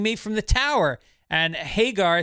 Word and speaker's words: Hagar: right let's do it pronounce the name Sami Hagar say it again Sammy Hagar s Sami Hagar now just say the last name Hagar now say the horrible the horrible hagger hagger the horrible isn't that how it